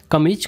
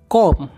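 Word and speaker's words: comb: और कंघी को इंग्लिश में हम बोलते हैं कॉम, इसमें एम साइलेंट रहता है, इसको बोलेंगे कॉम।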